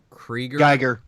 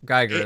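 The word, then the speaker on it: Giger: Krieger. Geiger.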